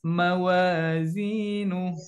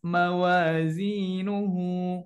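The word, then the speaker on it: موازينه: Jadi khaffat mawazinu. Jadi bukan khaffat mawazinuhu. Nah, bukan seperti itu ya, tetapi disukunkan, diberhentikan.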